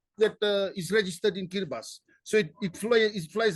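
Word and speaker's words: Kiribati: lot lot of it's called kiras it's called kiribas kabas not t the t is the T is uh pronounced uh yes yeahi heras they are micronesians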